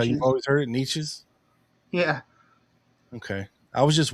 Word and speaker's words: Neches: Neches or Nashes? Neches, that's how I've always heard it. That's how you've always heard it, Neches?